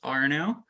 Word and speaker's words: Arnaud: So my name is spelled, it's a French name, so it's spelled a little funny, but it's pronounced Arnaud.